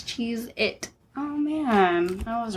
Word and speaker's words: Cheez-It: baloney Italy all right is it Cheez-Its or Cheez-It s no no it's cheese it oh man I was